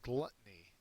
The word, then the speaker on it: gluttony: our next word is gluttony and this person has a mouth full of french fries that look delicious uh it's a noun first syllable is accented it is engaging and